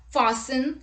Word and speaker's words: fasten: look at the rule t is not pronounced in this common words let's look at the examples castle christmas fasten listen orphan whistle thistle